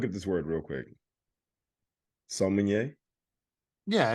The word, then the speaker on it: sommelier: It's spelled SOMMELIER.